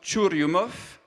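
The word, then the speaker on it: Churyumov: Russe vous découvrirez leurs deux noms ça se prononce turumov keresimenko alors pour les gens comme moi on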